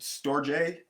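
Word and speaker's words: storge: storjay agape and ludus i pronounce those like that because i listen to the translation on them first because they are greek words um so that is where i got my pretension from so storej is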